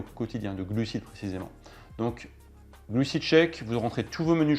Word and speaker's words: GluciCheck: Je vais vous demander de télécharger une application qui s'appelle GluciCheck. C'est une application gratuite sur votre smartphone. Donc ça s'écrit G-L-U-C-I espace check, comme en anglais check.